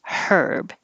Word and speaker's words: Herb: not that common, but if it's a person's name, we say the H, herb. Otherwise, herb, no H, herb, and herbal.